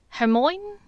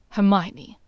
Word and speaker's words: Hermione: Now, I've been informed by my brother's old colleague that you and a Herman no hermine hermine. How do you say this? Hermione, Draco said with more than a bit of agitation.